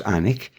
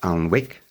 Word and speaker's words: Alnwick: Alnwick in there is spelt ALNWICK, because Alnwick was formed by the side of the River Aln. But we don't pronounce it Alnwick, we say Alnwick.